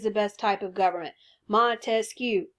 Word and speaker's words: Montesquieu: Montesquieu, three syllables, separation of powers, the three branches of government that we see in the Constitution.